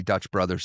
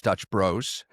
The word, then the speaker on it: Dutch Bros: They don't like when you say Dutch brothers, it's Dutch bros.